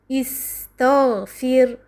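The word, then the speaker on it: اِسْتَغْفِرْ: The Ta here has a Fatha in the word istaghfir. So Hamzat al-Wasl takes Kasra. We pronounce here as istaghfir.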